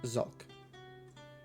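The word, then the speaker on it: Zalk: Zulk. How do you spell that? Z-A-L-K. It's like sulk.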